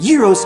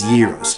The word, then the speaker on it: gyros: Now, consider the advantages of pronouncing these sandwiches gyros, like you do. Okay, it rhymes with heroes, I admit that. Heavyweight boxing champion Rocky Marciano, who was born on this day in 1923, probably pronounced them gyros.